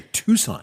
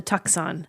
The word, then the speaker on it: Tucson: you know what I every time I have to spell it out cuz it's spelled t u c s o n in my head I have to call it the tuxon tuxon or I want to mess the S and the C up yes the number of